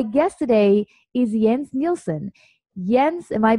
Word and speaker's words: Jens: Jens, am I pronouncing your name correctly?